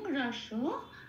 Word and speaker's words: রস: রস, এখানে কোনো হসন্ত নেই, খেয়াল রাখতে হবে, সেই জন্য প্রত্যেকটা অক্ষর ধরে ধরে পূর্ণরূপে উচ্চারিত করতে হবে।